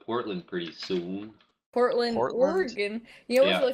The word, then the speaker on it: Oregon: And I read the name of it, and I pronounced it Oregon, and people were like, "No, that's Oregon." And I still feel like it should be pronounced Oregon.